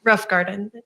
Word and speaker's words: Rothengarten: And was Miss Melissa Rothengarten, that's how it's pronounced? Pronounce it for me. Rough Garden. Rothengarten.